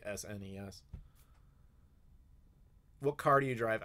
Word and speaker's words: SNES: you say SNES well I don't say snez that's very European thing to do I say SNES or Super Nintendo depends if it's